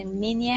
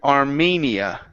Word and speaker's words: Armenia: Next up, we have the word Armenia. Instead of Armenia, Armenia. Armenia. Mm-hmm. Yeah, we pronounce it mania.